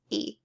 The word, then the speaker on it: y: So if it's just by itself, it's just pronounced E. And that word means and. If you see Y by itself, it means and you pronounce it E.